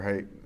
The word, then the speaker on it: Haidt: Height that is it how's it how you pronounce his last name? It's height. Height. Uh that it is the phone is not spiritually healthy.